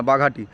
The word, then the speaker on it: বাঘাটি: আমি আগেবারে ভগতী বলেছিলাম, এটা ভগতী না বাঘাটি, ঠিক আছে, উচ্চারণটা ঠিক করেছি।